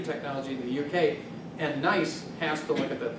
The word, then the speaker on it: NICE: to the UK, and NICE has to look at that. They're not nice, but that's how they pronounce it.